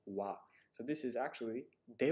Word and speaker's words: は: particle a function word so whenever the character ha acts as a grammar particle you have to pronounce it as Wow so this is actually